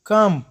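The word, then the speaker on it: comb: کم یعنی ګمنز. دا ځکه نه تلفظ کېږي چې دا په تلفظ کې بیا سختی رامنځته کوي.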